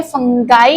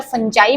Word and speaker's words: fungi: फिर आपके पास होते हैं फंगाई या फंजाई भी इसको बोल सकते हैं। दोनों तरीके से आप इसको प्रोनाउंस कर सकते हो।